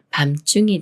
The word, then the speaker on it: 밤중: 다음에 중이라는 말이 와서 밤중이 되는데요 밤 중에서 중이 가운데라는 뜻이 있어서 밤 중이란 밤의 가운데라는 말이에요 이렇게 미음 받침이 초성 지은을 만나면 쌍지 수리인 즈로 바뀌면서 밤 중이라고 읽어요 밤중 밤중 예문 읽어